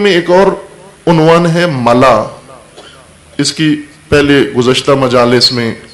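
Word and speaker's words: ملأ: ملاح اور ہے، ملاح کشتی چلانے والے کو کہتے ہیں. یہ ہے ملا، میم لام الف اوپر حمزہ، ملا. ملاح نہیں کہنا، ملا.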